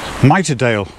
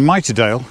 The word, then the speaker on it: Miterdale: Which would mean that the pronunciation is mitre, like in a bishop's hat, or the corner of a frame, as I know it, mitring.